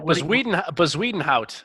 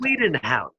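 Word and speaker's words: Bezuidenhout: Bazwedenhout is how it's pronounced. Bazwedenhout.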